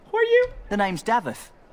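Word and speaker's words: Daveth: It's not David, it's Davith.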